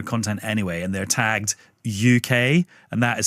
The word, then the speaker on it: yookay: And they're tagged UK and that is spelled Y O K A Y, which is supposed to be a reference to how UK is pronounced in a multicultural London accent.